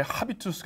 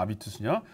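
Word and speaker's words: habitus: 썼느냐 라틴어 쓴 거예요 그리고 왜 하비투스 아니냐 아비투스가 프랑스 사람들은 h 발음하지 않습니다 그 별거 아니에요 사실은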